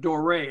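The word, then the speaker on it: doré: of gold and silver they call it dorae it's spelled d-o-r-e but it's french and you can see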